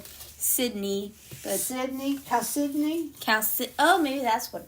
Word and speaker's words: Chalcedony: somebody said it's pronounced Chalcedony. Chalcedony.